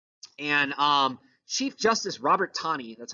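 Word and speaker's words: Taney: the supreme court and um chief justice robert tawny that's how you say his name looks like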